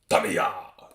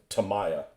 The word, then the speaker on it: Tamiya: Is it Tamiya? I think that's how you say it. Tamiya. And to think we used to call it Tamaya. Like, that's wrong. That's wrong because there was a heavy cruiser called Maya. And if you're going to pronounce that Maya, what would you pronounce with Miya the same way?